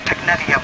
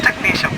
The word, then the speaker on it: technetium: And I'll just let you know, T-E-C-H-N-E-T-I-U-M. It looks like technetium. It's technetium. You're surprised. You have to figure out how do you say these. It's technetium. Technetium, technetium.